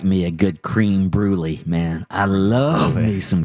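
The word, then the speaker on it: crème brûlée: me real quick cream cream brulee it's a creme brulee okay okay so we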